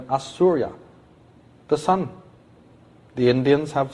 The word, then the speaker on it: Osiris: old name of Osiris they didn't pronounce it Osiris they called him assura the son the Indians